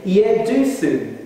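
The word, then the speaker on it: Jeduthun: And you pronounce his name, Yeduthun, Yeduthun.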